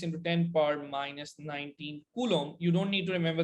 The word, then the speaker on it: coulomb: c which is coulomb so it's a french word uh actually a french name coulomb the b is silent okay so one point six in ten power minus nineteen coulomb which we call one